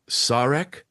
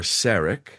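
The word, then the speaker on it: Sarek: One is that Sarak or Serak uh in this in the original series is pronounced in two different ways.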